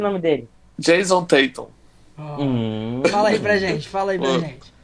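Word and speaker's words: Jayson Tatum: Jason Tatum não conseguiu jogar por conta de Giannis. Giannis estava naquela noite inspirada. Gostei da pronúncia, fala de novo aí. Gostou? Jason Tatum.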